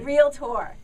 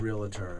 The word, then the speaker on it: realtor: crazy when people say no it's two syllables not three real tour it is not the Elector real tour my wife still says realtor all these years so